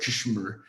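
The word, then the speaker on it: KSHMR: there's an artist called cashmere which is spelled spelt cashmere with a k and then without the vowels so uh it's like kashmir but um he saw what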